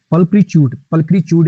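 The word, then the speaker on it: pulchritude: ट्यूड नहीं है, च्यूड है बेसिकली। पल्क्रीच्यूड इसकी सही प्रोनाउंसिएशन है बेसिकली।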